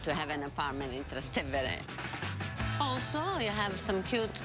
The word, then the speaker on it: Trastevere: So this section here is called Trastevere? Did I pronounce it?